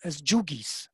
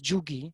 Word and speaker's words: Jugi: known in Bengal as Jugis. So the standard name was Jugi. It's just a local pronunciation of the word yogi.